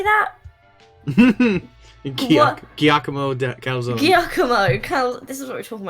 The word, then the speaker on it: Giacomo Calzone: Giacomo Calzone.